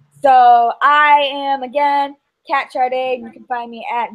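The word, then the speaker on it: Sade: And then I'm also on Twitter, and that's Kat13 Charday, and my name is spelled S-A-D-E. Please don't ask me why it's pronounced Charday, even though it's no H and no R.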